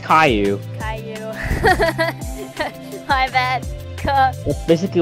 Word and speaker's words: Caillou: Caillute? I don't know. Caillute? I don't know how to pronounce this. It's Caillou.